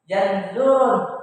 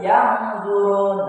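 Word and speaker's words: يَنظُرُونَ: Lebih mudah lagi, agar lebih paham lagi, bunyi n menjadi Nah, jadi cara membaca di sini bukan yanzurun, bukan, tetapi yang zurun.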